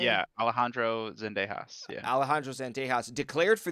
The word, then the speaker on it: Zendejas: the United States uh I think it's it's Zendejas right is that how you say his name his last name yeah Alejandro Zendejas yeah Alejandro zantejas declared